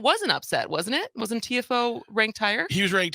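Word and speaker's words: Tiafoe: as so is it it's Francis is it TFO is that you pronounce it uh Francis TFO TFO so Francis TFO and Dunn Shelton played yesterday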